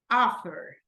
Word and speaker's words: offer: What about offer? Offer. First or second syllable, Dayana? First syllable. First syllable, correct.